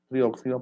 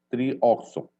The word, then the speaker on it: trioxo: Trióxido porque hay 3 oxígenos. Trioxo. No se dice trióxido porque no son óxidos, se dice trioxo.